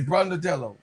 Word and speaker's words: Brondello: I say Brondello. Rondello. Whatever. Brando. I think it's three syllables instead of the 99.